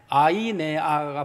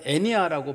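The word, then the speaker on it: Αἰνέας: 근데 이 애니아라는 이름이 이게 우리나라식 발음이에요. 그 원래 그리스식 발음으로는, 정확한 발음으로는 아이네아가 발음이거든요. 아이네아라는 발음인데 어떻게 우리나라에서는 이걸 애니아라고 발음을 했습니다. 영어식 발음도 애니아는 아니거든요. 발음이 좀 달라요.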